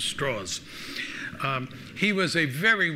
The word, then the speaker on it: Strauss: American named LS Strauss except Strauss lived in Virginia where people couldn't pronounce Strauss so they called him straws and so he's known as Louis straws um he was a